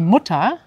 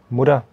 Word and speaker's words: Mutter: Auch interessant, dass T wird sehr weich ausgesprochen wie ein D. Ich sage zum Beispiel die Mutter. Mutter.